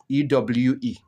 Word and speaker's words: Ewe: Although they write it or they pronounce it as Ewe, EWE. Okay, but the right pronunciation is Ewe.